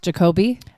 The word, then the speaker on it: Jacoby: good player his name's Jacoby okay this kid is that's a cool name I know like Jacob but it's pronounced Jacoby um Jacob with the ey okay and he is